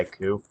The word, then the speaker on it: ACU: and here he is many many people don't know how to say it when people say accused some people say a coup all right why is